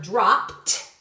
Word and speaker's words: dropped: So in our word dropped, it sounds like it ends with a T, but we're going to have to remember it's an action word, so we spell that sound with an ED.